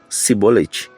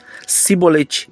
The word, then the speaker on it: Sibolete: Porém, Sibolete era um dialeto efraimita e eles não conseguiam articular e pronunciar o som de CH nessa palavra e a pronunciavam de forma diferente, ou seja, Sibolete.